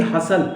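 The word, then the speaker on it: hustle: देखिए हसल, हसल mean धक्का मुक्की करना, टी नहीं बोला जाएगा, टी ड्रॉप कर दिया जाएगा।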